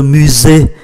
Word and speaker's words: musée: C'est le musée, S phát âm là Z.